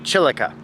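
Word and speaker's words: chilaca: dried chilica pepper chilica pepper that's how you pronounce it chilika which i didn't look up what chilika is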